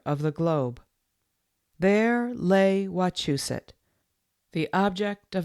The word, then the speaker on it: Wachusett: Not Wachusett, Wachusett, but Wachusett.